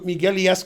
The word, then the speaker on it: Miguel: wolf was talking to miguelis cordoba and he was pronouncing his name miguel and then miguel said the u is silent and he said okay